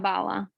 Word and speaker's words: Bala: How do you pronounce it? Bala or Baya? It's Bala.